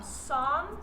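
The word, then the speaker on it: Psalm: verse this week is from song so it's got a key in the front of it but it's a silent P so it saw 33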